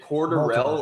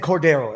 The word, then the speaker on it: Cordarrelle: I've always said Cordero. And on the way here, Yeah, I've always they said said Cordarrelle 5 times, and I've been saying his name wrong my entire life.